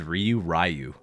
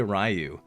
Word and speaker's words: Ryu: anime as I do, seeing how many people mispronounce Ryu's name from Street Fighter. Like anybody that's over the age of like probably 30 or 40, maybe 50, probably pronounces Ryu. Because like that's all that you know? They always say Ryu, or like they just straight up put emphasis on the incorrect syllable.